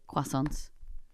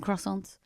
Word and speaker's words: croissant: Um So, uh the we say croissant, but I do believe it's a I think we're wrong. We are wrong cuz we sound like it's spelled Q U. Croissant. We're nearly saying quack.